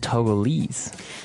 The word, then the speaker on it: Togo: Um but when we talk about the country Togo Mhm. what do we call a person from that country? Toggle. Toggle. Okay. So it's Togo.